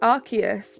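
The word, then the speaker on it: Arceus: respect for that yeah it's not an S it's archus because it's the ark phone not the the other word phone exactly you get it it has to be pronounced with a c sound so true thank you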